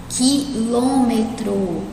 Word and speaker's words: quilômetro: Quilômetro. Olha aqui. Né? A gente não pronuncia o U, então ela é um dígrafo.